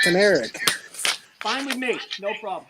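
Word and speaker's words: Kanarek: How do you know it's pronounced that? It's Irving Canarak. It's not Canarak. From fucking Georgia. He's telling me how a Jew name is pronounced. Trust me, it's pronounced Canarak.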